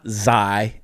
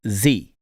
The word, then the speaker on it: xi: It's not xi, it's z.